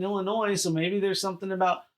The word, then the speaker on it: Illinois: Yeah, and then I come from Illinois, and I'm like, well, we do say the S is silent in Illinois, so maybe there's something about Missouri.